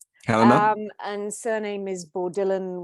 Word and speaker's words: Helena: um my pleasure my you know myself I pronounce it Helena Helena um and surname is bordillan which is just